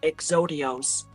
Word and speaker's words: Exodius: You say Exodius. Um, but in the English dub for Yu-Gi-Oh GX, they pronounce it as Exodios.